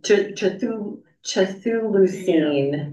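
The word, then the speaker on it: Chthulucene: found which which the chahul oh yeah um Chul luine that's it what did it mean well it's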